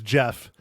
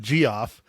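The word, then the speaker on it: Geoff: have said that okay yeah it's Jeff g e o f f it's Jeff not g off oh Mike oh oh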